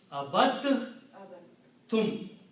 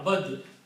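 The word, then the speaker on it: عَبَدتُّمْ: tha comes together, then instead of pronouncing dal, you pronounce ta 2 times.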